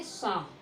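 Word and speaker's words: psalm: तो इसको पढ़ेंगे शाम। क्या बोलेंगे? शाम, क्योंकि एल भी यहाँ पे साइलेंट है, ठीक है। एल भी यहाँ पे क्या है? साइलेंट है, क्योंकि एल के बाद यम आया है।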